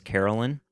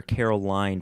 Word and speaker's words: Carolyn: I actually mispronounced my my wife's name is Carolyn and a care called her Caroline for at least six months